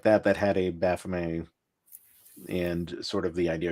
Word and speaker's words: Baphomet: I know, as I'm a Satanist, and Satanists will say, "Oh, it's pronounced Baphomet," and because that's how it's really supposed to be pronounced. Gotcha. That's the formal answer. But I still say Baphomet, and I still say Baphomet because they say